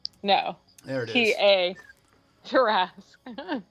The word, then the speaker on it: Tarrasque: Terrasq? The QUE. space TARRASQUE. Got it. I thought it was TER. No. There it is. TA. Tarask.